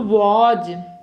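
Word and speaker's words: was: व तो वॉज अब देखो स को कहीं-कहीं जा भी उच्चारण होता। और कहीं-कहीं स इंग्लिश में जब ऐसे बोलते हो। अब कहां पे कैसा होता है मैं वैसे बताती जाऊंगी। यहां पर जैसे है सा को जा। तो वाज ठीक है वाज मींस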